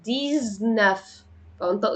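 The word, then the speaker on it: dix-neuf: بس مركبه يعني مثلا هنا رقم 19 يعني ديزنافطق ز ديزناف 18 يعني ديز ويت فبنطق الاكس هنا ز ديز ويت ويت ويت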